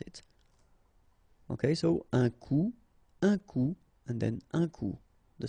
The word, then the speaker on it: coup: Un coup. And then un coup. Alright, so you can see that you get this final P here, but then you don't pronounce it.